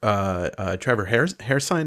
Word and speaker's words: Hairsine: But Trevor Hairsine, is that how you say it?